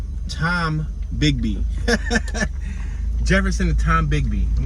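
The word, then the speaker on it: Tombigbee: So we're at Tombiggy, or I'm sorry, let me pronounce this right. Tom Bigby.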